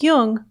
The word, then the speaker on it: Jung: podcasts or tune in just be sure to pronounce Jung with a hard J so with special thanks